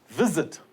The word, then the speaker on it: visit: Visit. Now the stress is on the first syllable.